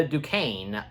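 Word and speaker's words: Duquesne: Fisk and, you know, the people that Wilson is interacting with, including Jack, uh, Dukane. Um, yeah, and that's how his last name is pronounced cuz in my part two review, I was having trouble.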